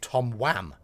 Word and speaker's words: Tom Wham: I'm going to say Tom Wham because in English your name is pronounced Wham as in the band wake me up before